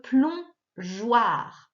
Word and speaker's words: plongeoir: Ensuite, le plongeoir. Alors j'avais mis le E ici pour faire le son J, sinon ça faisait goi, le plongeoir.